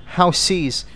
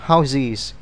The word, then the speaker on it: houses: Tuy nhiên, khi chúng ta thêm ES số nhiều, chúng ta không đọc là houses, mà chúng ta phải đọc là houses. Âm S biến thành âm Z.